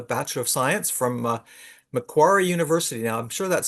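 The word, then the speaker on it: Macquarie: She holds a Bachelor of Science from uh McQuary University. Now, I'm sure that's spelled that's probably pronounced differently.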